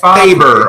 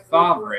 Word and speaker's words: Favre: Or when Favre came into the league, they were saying Brett Faber or Faber. Favre. Yeah. Favre. Yeah.